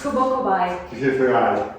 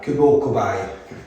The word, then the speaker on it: Kubo Kobi: How do you pronounce it? That's good. It's Kubo Kobi. Kubo Kobi.